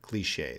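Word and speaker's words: cliché: and it can be it can become a cliche cliche that's how we pronounce it I lost the comments all right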